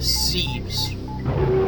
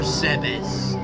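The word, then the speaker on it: Zebes: game is back on planet sees or sebz depends on how you pronounce it and um as you're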